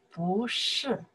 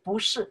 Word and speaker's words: 不: 不是, when you shortly answer something, somebody ask you, you want to say no, you can say 不.